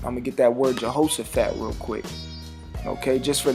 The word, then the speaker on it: Jehoshaphat: I'm going to get that word Jehoshaphat real quick. Okay, just for the edification out there to the Aki. It says, which is pronounced Yahweh Shaphat.